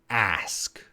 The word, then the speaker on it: ask: as US as us ask so as and ask they begin with that a sound has asked us us